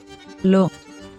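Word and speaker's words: לא: aleph, Remember, aleph is a silent letter. The nickeled sign that tells us to pronounce it as an O is the dot on top of the aleph. So, an L, followed by an O sound, forms the word lo, lo, Now, let's see the letter mem.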